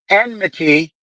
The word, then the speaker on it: enmity: They taught me this a couple weeks ago because I've always been saying it wrong. Enmity.